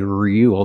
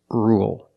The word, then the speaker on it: rule: let's talk about rule with rule we don't say real there's no yeah it's just Rue dark El or rule for example you need